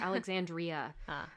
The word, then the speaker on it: Alexandria: I keep saying her name wrong. It's Alexandria.